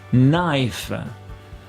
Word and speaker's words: knife: allez on commence avec le cas qui s'efface toujours devant à ncc super fréquents comme cas on voit ça